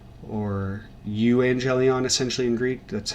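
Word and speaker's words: εὐαγγέλιον: corresponding with that is again 577, which is evangelion, or euangelion essentially in Greek. That's how it's spelled.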